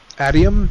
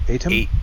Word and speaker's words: Atium: Yeah, cuz even when he was fighting and getting the uh adium, is that how you pronounce it? Atium. Atium. Atium. Thank you.